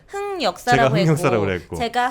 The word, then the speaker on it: 흑역사: 흑역사가 맞고 하지만 이 흑역사가 뭐 이게 완전 틀린, 사전에 등록된 그러니까 공식적인 단어는 아니기 때문에 어떤 발음도 상관은 없지만 네. 기본적으로는 흑역사가 맞다. 왜 흑역사가 맞을까? 색연필 생각하시면 됩니다.